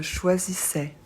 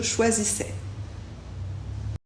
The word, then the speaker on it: choisissais: s a et i ça se prononce toujours e et le S à la fin on ne le prononce pas tu choisissais il choisissait